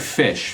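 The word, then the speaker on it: Phish: but it stands right it's like fish fish was named after Fishman the drummer of the band but it's spelled pH so people aren't really thinking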